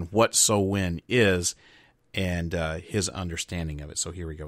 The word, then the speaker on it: Samhain: Loomis describing to a police officer what what he calls Samhain which is actually pronounced so when what so when is and his understanding of it so here